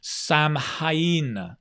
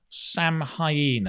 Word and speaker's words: Samhain: I'll get the pronunciation right. Bear with me. Yes. Samhain. Samhain.